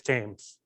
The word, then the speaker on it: Thames: there was actually a precursor to it that was the uh the thames tunnel even though it's spelled thames it's james just you're gonna have to trust me um that was in